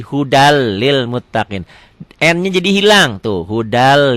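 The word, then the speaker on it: هُدًى لِّلْمُتَّقِينَ: Hudan lil muttaqin dibacanya jadi hudal lil muttaqin.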